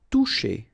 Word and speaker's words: toucher: Toucher. Okay, remember you combine this O and U, you get the sound OU and then C and H, SH.